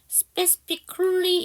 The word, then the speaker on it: specifically: 이게 A 발음이 없어요. specifically 이렇게 발음해 주셔야 됩니다.